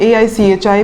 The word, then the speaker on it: Aichi: इसको आप HE भी बोल सकते हो या फिर AICHI भी प्रोनाउंस कर सकते हो, ठीक है।